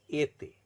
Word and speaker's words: été: Pronunciation becomes A when accent aigu is used. Exemplary word is été.